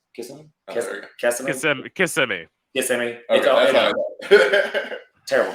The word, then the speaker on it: Kissimmee: Then how you pronounce it? It's Kissimmee. Kissimmee.